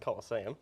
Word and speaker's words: Colosseum: Colosseum. There we go. Different pronunciations, you see.